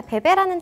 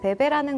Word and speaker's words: bébé: 자, 베베라는 단어 굉장히 익숙하죠. 아기 관련 용품들 이름이라든지 그런 브랜드들 이름을 베베라는 거를 많이 따서 사용을 하고 있는데 이 베베라는 단어가 원래 프랑스어에서 온 단어예요. 정확한 발음은요. 베베. 베베. 베베.